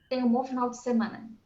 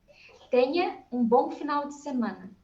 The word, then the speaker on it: Tenha bom final de semana: Tenha bom final de semana. Huh? Tenha bom final de semana.